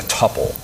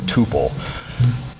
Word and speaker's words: tuple: is to store things in a tupple or Tuple not sure what pronunciation you like I'll stick with tupple um basically TPP just